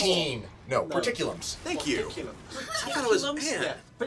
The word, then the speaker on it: porticulum: because I based the pronunciation on the word portcullis, which Yeah, I that's kind of what- thought it was No, it's based on. port, as in teleport.